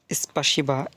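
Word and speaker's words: спасибо: thank you মানে আপনাকে ধন্যবাদ তো রাশিয়ান ভাষায় স্পাসিবা স্পাসিবা মানে আপনাকে ধন্যবাদ স্পাসিবা মানে আপনাকে ধন্যবাদ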